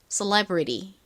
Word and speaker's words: celebrity: 미국식 원어 발음도 알고 싶으신 분들을 위해서 간단히 설명드리면 미국식으로는 셀러브리ity가 아니라 cele처럼 발음이 됩니다.음 음, 한글로 적어 보자면 발음을리처럼 좀 요상하게 발음이 돼요. 한번 따라해 보세요. celebrity 한 번만 더 해 볼까요?